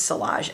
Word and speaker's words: Sillage: I think it's Salage.